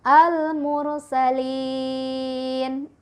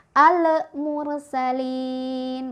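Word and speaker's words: المرسلين: huruf qamariyah jadi Artinya kita bacanya lemnya jelas al-mursalin pembacaan yang salah misal Ale mursalin mantul ya jadi salah atau al al-mursalin salah juga karena alamnya ditahan harusnya tidak boleh nikahan dan contoh yang terakhir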